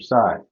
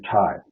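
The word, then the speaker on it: Tsai: Ma porting would be Andrew side or Andrew Ty sorry as he pronounced it recently he has plenty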